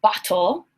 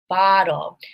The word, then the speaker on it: bottle: I do not say bottle, I say bottle. And look, ah, is a vowel sound. Whoa. So bottle, these are vowel sounds.